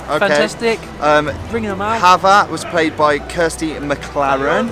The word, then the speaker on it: Chava: Loverman, Chava. No, Hava. I think the C is silent.